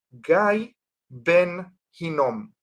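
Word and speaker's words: גיא בן הינום: Entonces en hebreo el nombre de ese valle se lo pronuncia Gay Ben Hinom.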